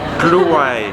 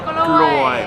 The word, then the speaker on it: กล้วย: ใช่ใช่ใช่ Voilà, parce que on dit how to say banana in กล้วย Kluai. Kluai. Voilà. Si vous faites une mauvaise prononciation, ça va donner un truc, voilà, j'ose